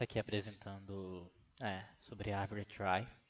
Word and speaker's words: trie: Bom, uma árvore try, pronuncia-se try, é uma árvore usada para implementar tabelas de símbolos de strings, também conhecida como árvore digital ou árvore de prefixos.